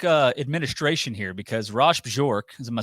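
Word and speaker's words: Bjork: Administration here because rash bjor is am I saying that right Ross bjor is that is that how you say it I think it's Bor bork okay no so the J yeah bork so he he's he's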